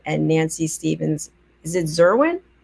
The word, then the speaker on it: Zwerin: nancy stevens is it zerwin swearing swearin swearin it rhymes with swearin exactly okay i've got